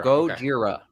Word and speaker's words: Gojira: act the the original name oh gorgia goodyear go jira gojira yeah yeah um the classic monster movie